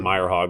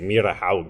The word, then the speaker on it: Myrehaug: region my last name Meyer hog which is very Scandinavian so they give me they sort of i just say i pronounce my last name wrong it's actually mere to how so oh also I